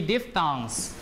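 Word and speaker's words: diphthong: t h o n g we have three diff thongs diff or D oops diff d i p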